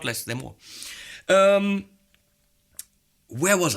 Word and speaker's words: Mooer: see on Mooer pedals, this is how you say it, by the way, Mooer, not Mooer or Mooer or Mooer or any kind of variations I frequently do. It's more like, more.